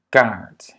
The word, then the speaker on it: kaart: La première, c'est que les doubles voyelles sont toujours longues. Dubbele klinkers zijn altijd lang. Ja? Double voyelles sont toujours longues dans la prononciation. Donc, par exemple, A, baan, kaart. Ja? E, kleed, geen. Ja? Kleed en geen.